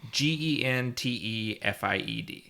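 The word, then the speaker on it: Gentefied: Gentified. Oh, okay. So it's a soft G.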